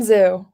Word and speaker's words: Xu: Zoo, like you're going Zoo.